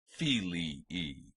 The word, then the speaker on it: filii: two syllables separated by a while and it's pronounced fili II the next word numerous new Murray masculine meaning